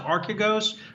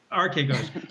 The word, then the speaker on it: Archegos: is at stake here with the, is it pronounced Archegos? I'm sure I'm not pronouncing it correctly. Archegos.